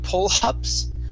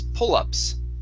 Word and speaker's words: pull-ups: Here, you added an H on up, saying pull-ups. Okay, take off the H. It's pull-ups. Pull-ups.